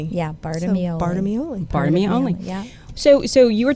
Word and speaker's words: Bartolameolli: Well, you said a friend said it rhymes with part of me only. Yeah, Bartolameolli. So, Bartolameolli.